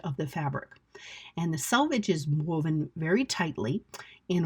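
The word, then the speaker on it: selvage: are called the salvage, even though it's spelled s e l v a g e. So, we would expect that it was actually pronounced salvage.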